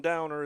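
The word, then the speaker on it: Dauner: Downer is spelled D A U N E R.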